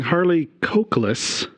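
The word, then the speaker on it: Harley Cokeliss: this is directed by a guy whose name you want to be carefully correct pronouncing harley cokeless because you know if you drop that e out of there it's a really unfortunate name uh he's done lots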